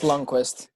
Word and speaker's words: Lundqvist: It's just Lundqvist.